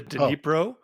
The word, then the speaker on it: Dnipro: It's actually pronounced both ways, the Dnipro or the Dnieper.